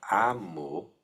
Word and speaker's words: amo: Por exemplo, a palavra amo. Amo. Todo mundo vai saber o que significa. A pronúncia é aberta porque não se nasaliza.